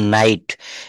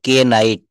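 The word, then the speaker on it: knight: তো এখানে কিন্তু দেখেন এন থেকে আমরা বলব কে বাদ দিতে হবে কে নাইট এটা বলা যাবে না নাইট নি মানে হচ্ছে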